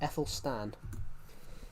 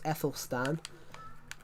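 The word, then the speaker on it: Æthelstan: His name was Ethel Stan. But take the A off and that's how you pronounce his name because the A the A and the E pr would make would make the Ethel noise.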